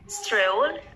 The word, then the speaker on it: stroll: Then, pada kata di bawahnya, stroll around, di situ ada seperti huruf O, dan mirip juga seperti huruf U. Jadi antara huruf O dan U. Cara membacanya, gabungan antara O dan U. Jadi bunyinya menjadi stroll around.